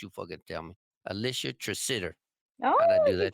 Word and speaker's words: Tresidder: that's a fucking hard because it's not spelled the way it sounds, not the way it's spelled and shit. So it fucks me up. Alicia Tresidder.